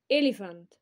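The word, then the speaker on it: elephant: كمل كمل كمل اليفنت البي البي البي اتش بتنطق فاء اليفانت فيل ثعبان سنيك سنيك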